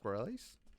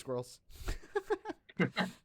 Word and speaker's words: Squirrelies: Is it pronounced Squirrelies? Yep. I thought it was pronounced Squirrels.